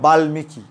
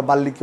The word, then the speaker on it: বাল্মীকি: করেছিলাম ক্লাসটা আমি বলেছিলাম যে বাল্মীকি উচ্চারণটা বাল্মীকি অনেকেই বলে থাকে কিন্তু সঠিক উচ্চারণ হবে বাল্মীকি, তাহলে বাল্মীকি উচ্চারণটা কীরকম হবে কোন নিয়মে হবে এই নিয়মে হবে, কারণ লয়ের সাথে ম যুক্ত হলে ময়ের উচ্চারণ হয়।